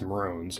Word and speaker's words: Maroons: let me know yeah you guys were saying it's it's Maron and then I and then some once I started pronouncing it that way some commenters were saying you can say Maroons as well so I don't